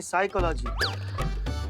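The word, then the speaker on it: psychology: पिसाई का लागी तो साइकोलॉजी नहीं साइकोलॉजी पी साइलेंट होता है तुम हो जा साइलेंट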